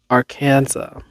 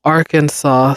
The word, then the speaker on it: Arkansas: Indian tribal names, but that Kansas chose to follow the standard English pronunciation marked by a hard A sound in can and vocalizing the final S, while Arkansas stuck with the original French pronunciation. It's the long French and Italian ah sound, wrote the Arkansas Historical